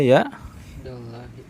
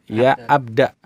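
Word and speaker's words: يا عبدَ الله: Ya Abdullahi. Abdullahi. Nah, baca yang tepat adalah ya abda.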